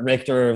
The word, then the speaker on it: Richter: Richter, thinking of earthquakes, rhymes with mixture.